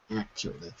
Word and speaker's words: accurately: by the way accurately accurately so the stress is actually on the first syllable accurately once more Yes